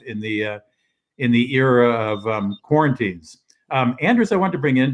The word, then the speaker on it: Anders: Well, I'm giving give us the Swedish pronunciation of Anders. Anders. Anders. You have to sound happy when you speak any Scandinavian language. All right, it's spelled Anders, so an American reading would read as Anders.